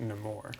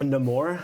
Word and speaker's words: Namor: it's pronounced Namor. No more.